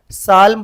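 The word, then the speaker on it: psalm: Next क्या है, साल्म पढ़ते अपन, साल्म पढ़ते, पी साल्म नहीं पढ़ते, सो इसलिए यहाँ पे क्या हो गया, पी मेरा साइलेंट हो गया.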